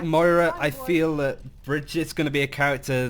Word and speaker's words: Brigitte: It's meant to be Bridget, not Brigitte, or whatever.